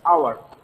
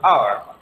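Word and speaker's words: hour: এই যে এই শব্দগুলো যে আমরা উচ্চারণ করছি, উচ্চারণ করতে গিয়ে আমরা হয়ের অর্থাৎ এইচ এর কোনো উচ্চারণ পাচ্ছি না, আমরা যে উচ্চারণটা পাচ্ছি উচ্চারণগুলো হচ্ছে স্বরেয় এবং স্বরেয়ের মতো।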